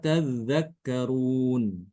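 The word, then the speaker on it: تذّكّرون: Kalau kita jumpai lafaz tadakkarun, maka Imam Ibnu Katsir itu dengan mentasdidkan dal. Afala tadzakkarun.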